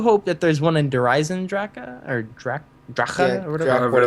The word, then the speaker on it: Eisendrache: Have you seen people be like the Eisendrache? I'm like, what is this person doing right now? I mean, like, let's think about it. Like, that's how you pronounce it in German, sure, but I mean, I